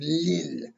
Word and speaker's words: لل: Then the next word is lil muttaqin. Two things to say about that word. Lil means for, which is actually li el. So they pronounce it as lil, for, because li means for.